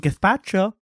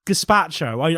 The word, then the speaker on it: gazpacho: says it too much I'll have some gethacha no it's gazpacho I know I know